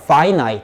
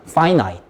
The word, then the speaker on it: finite: 여기 요 단어 발음 주의해 주세요. finite 이라고 읽으셔야 돼요. 한 번만, finite. 네, 이렇게 읽으셔야 돼요. 제한된이란 뜻이고, 아까도 적어놨지만, 아까 앞에 그 부정격도 in이 붙어가지고 infinite 발음이 이렇게 달라지는 거 좀 알고 계시면은 좋겠습니다.